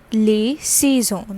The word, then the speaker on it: les saisons: remember the spellings as well that is s-a-i-s-o-n-s lay c-zone that is the seasons okay so in french